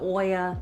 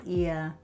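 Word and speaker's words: Oia: Everyone's at Oya, it's Ia. They are very... Try not to say it wrong.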